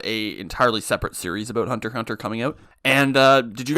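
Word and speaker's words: Hunter × Hunter: entirely separate series about Hunter x Hunter coming out. And did you guys know that you're not supposed to pronounce the X in Hunter x Hunter?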